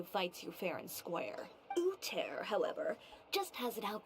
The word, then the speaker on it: Uther: If they pronounce this name Uter, then the ones in Warcraft that has the same spelling of the name, but they pronounce it Uther.